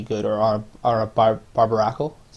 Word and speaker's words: Barbaracle: Ash would be good or on a bar barbaracle is how you pronounce it um and like I said just